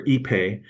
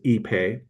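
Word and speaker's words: ipe: And it's called EP or EPE. It's spelled IP, but the wood is phonetically pronounced as EPE.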